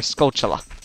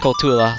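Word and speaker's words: Skulltula: use our bugs again our scotchla how i always used to say as a kid but now i just heard hear it pronounce kotula so i'm just going to pronounce it like that and also the way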